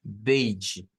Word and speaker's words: beige: Eh, Esto es yi, yi. Es aquella pronunciación donde se mezcla como una D con el sonido yi, yi. Entonces, esto es beige, beige.